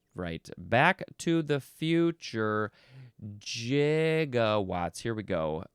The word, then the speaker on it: gigawatts: Uh, what does he say? 1.21 gigawatts. Megawws are the same. H, but yes, he did. He did say gigawatts. Uh, but I believe most people would prefer it to be gigawatts.